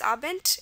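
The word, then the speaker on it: Abend: And here we know the root muzzik is a common ending but this here the um d is representing the t sound uh because it's at the end of this particular part aent.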